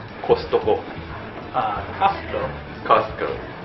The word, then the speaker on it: Costco: Costco. Pronounce “T”? Cos-t-co. A little bit? So, maybe the “T” is a little bit quieter, but it’s a combination of “cost” and “company”.